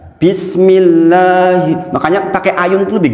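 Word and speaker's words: بسم الله الرحمن الرحيم: Dibaca berapa panjang mad tobi'i? 2 harokat atau 1 ayun dalam metode umi. Maka dibaca bukan begini. Bismillahirrahmanirrahim. Saya sering dengar seperti itu. Gini Bang, kadang-kadang orang itu sahih banget tuh, bagus banget tuh, lanya panjang. Padahal hanya 1 ayun, 1 ayun saja.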